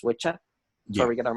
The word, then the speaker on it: Wicca: It's not actually pronounced Wicca; it's pronounced witcha.